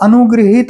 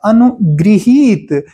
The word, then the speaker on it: अनुगृहीत: और एक शब्द है अनुग्रहित, और अनुग्रहित अपने आप में उच्चारण ही गलत है, सही उच्चारण है अनुगृहीत, यानी गौ में ई की री की मात्रा लगेगी, अनुगृहीत होगा तब ये सही शब्द होगा।